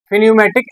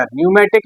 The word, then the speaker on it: pneumatic: इसके बाद हम लोग देखने वाले हैं फिन्यूमेटिक एक्चुएटर। न्यूमेटिक एक्चुएटर भी बोलते हैं या फिन्यूमेटिक भी एक्चुएटर, इसमें पी साइलेंट होता है।